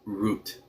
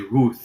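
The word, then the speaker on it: רות: They just pronounce as a hard t root.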